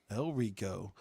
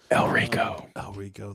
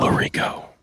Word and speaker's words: El Rico: El Rico. I just was afraid I was going to say his name wrong for the 100th time. El Rico. That sounds so beautiful. Not Lorico.